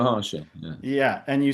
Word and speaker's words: Maharshi: You were like, "It's a Mara Harashi." I don't even know how to say it right, Ramana but Maharshi.